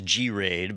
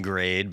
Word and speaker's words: GRAID: any of that so i thought it was g-raid but i could see it being grade but it's spelled g-r-a-i-d and and the reason i think it's probably g-raid is this is a company